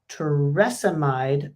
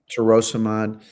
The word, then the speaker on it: torsemide: Do you like torsemide better than lisinopril? Am I pronouncing that right? Torsemide.